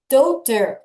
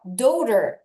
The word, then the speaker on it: daughter: 자, GH가 입모양만 만들고 발음이 거의 안 나요. 그래서 DAU를 먼저 읽으면 the. 자, 그 다음에 TER 읽으면 ter. 그래서 daughter. 다시 뭐라고요? daughter.